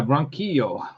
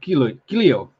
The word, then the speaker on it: Ronquillo: So yeah, Ronquillo or Quilio. Ronquillo, even though it's spelled like in Spanish Ronquillo, it's Ronquillo because that's how they say it.